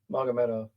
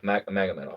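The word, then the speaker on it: Magomedov: How do you say it? Mondov. Magameov. Magamed off. Magamed off. Yeah. So like not Nurmagamed off. Magamed off.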